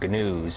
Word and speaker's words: gnooze: She does this thing called gnooze, and the G is silent, so I should have just said news.